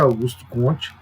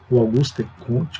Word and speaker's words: Auguste Comte: religião de seus escritos por exemplo você pega augusto comte auguste comte com alguns próximo de pronunciar ele que é considerado o pai da